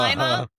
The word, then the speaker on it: Lima: It's Is it Lima? Lima. Oh, like the Yeah, bean? like the bean.